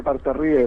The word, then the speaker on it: Partarrieu: Sí, Miguel, se pronuncia Partarrieu, muy bien pronunciado.